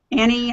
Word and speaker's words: Annie: pronunciation on that one Annie Annie think of the think of the light switch I'm always on oh Annie okay yeah